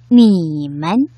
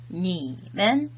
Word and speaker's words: 你们: 원어민 선생님의 발음을 잘 듣고 따라 발음해 보도록 하겠습니다. 你们你们 니men, 니men.